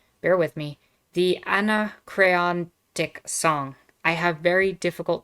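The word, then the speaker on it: Anacreontic: john stafford smith called bear with me the anna crayon dick song i have very difficult time pronouncing that one word the anachronic song there we go not too bad so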